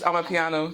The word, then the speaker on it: Amapiano: Amapiano.